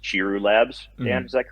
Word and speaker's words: Chiru Labs: uh lab that runs it i believe it's pronounced chiru labs dan is that correct yes sir yes okay